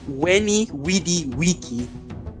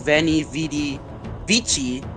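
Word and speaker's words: veni, vidi, vici: Uh the v the v made a w sound and the chi made a key sound. So instead of uh uh Venny Vidy Vichi, she went Wy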